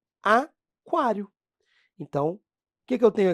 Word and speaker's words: aquário: u não é pronunciado no quilo mas é pronunciado no aquário então que que eu